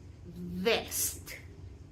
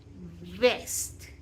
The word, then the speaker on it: vest: So when I pronounce the first word correct, I use my bottom lip and my upper teeth. Vest. Let's repeat. Vest. Vest. So when we use our lower lip and our front teeth, it vibrates.